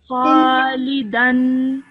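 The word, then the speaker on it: خالدًا: Khalidin. It's Khalidan. Khalidan. Well done. Because the dal has a fatha ten on top of it, it's pronounced as dan.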